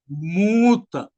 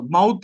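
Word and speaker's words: מוּת: मूत, माउत नहीं, और मूतने वाला मूत भी नहीं, गलती मत सुनिएगा है। ये मौत, माउथ भी मौत हो गया, ये वाला नहीं। मैं स्पेलिंग आपको बताता हूं, MUWTH। अंग्रेजी लिखने वाले लिखिएगा MUWTH, मौत। उसको स्पेलिंग है, उसको प्रोनाउंस करते हैं मुंह से मूत, MOOTH।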